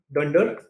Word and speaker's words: dunder: The way you would pronounce this is you would say dunder name.